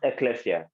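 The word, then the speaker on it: ἐκκλησία: it's literally in Greek it means it is pronounced Ecclesia okay and it means the called out ought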